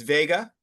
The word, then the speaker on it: Vega: Uh the next star I have is Vega or also WGA. So the V and the W are kind of interchangeable. So um I've heard it mostly pronounced as Vega.